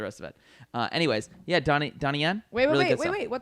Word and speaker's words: Donnie Yen: Yeah, Donnie Yen.